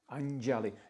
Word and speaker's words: Anjali: Anjali. Notice the little tilde, that little curve mark above the N for like a nya sound.